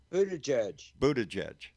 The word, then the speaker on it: Buttigieg: Buttigieg.